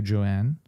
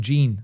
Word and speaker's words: Jean: Thank you, Joanne. Sorry. Thank you, Jean. Not Joanne. I'm sorry if I'm mispronouncing your name, Jean.